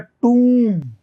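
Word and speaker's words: tomb: लिखवाया था आपको मैंने य ओ साउंड ओ का नहीं देता यह ओ नहीं है टी ओ एम बी ये होता है टूम मकबरा टूम तो ये उ का साउंड देगा उ टूम तो उ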